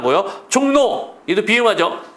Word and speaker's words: 종로: 얘는 발음이 중요합니다 신문 노예요 그러기 때문에 신문노 발음하는 거요 종로 이도 비하지 종노 왕심리 역시 비음화 그다음에 별내 별내는 유마가 됐네요